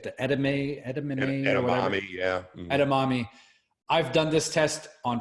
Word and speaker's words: edamame: place you get the etem a edamame yeah edamame I've done this test on four different occasions